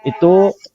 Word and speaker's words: itoe: Tapi kalau ejaan Van Ophuijsen itu misalnya itu ditulis I-T-O-E. Tapi tidak dibaca itoe, tapi dibaca itu.